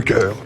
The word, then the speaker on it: chœur: on arrive dans le chœur. Et au final, c'est trop mignon parce que le chœur de l'église, ça s'écrit avec un H, mais c'est un peu comme celui-là, chœur, parce que c'est là